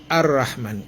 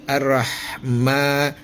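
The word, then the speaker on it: الرحمن: Arrahma ma mim di atas mim ada alif kecil ya berdiri ya. Itu tanda dipanjangkan di mad ya. Mad. Madinya dipanjangkan tapi hanya dua ketukannya.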